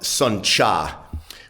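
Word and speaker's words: Sơn Trà: And this is uh spelled s o n, separate word t, which in Vietnamese tr is pronounced cha, not tra.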